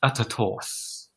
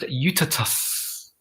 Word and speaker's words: Utatus: We're not Utatos. You are. We're pronounced Utatus. Just picture a uterus with T in it.